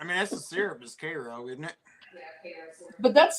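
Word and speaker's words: Karo: I mean, that's the syrup is Cairo, isn't it? But that's spelled C-A-R-O.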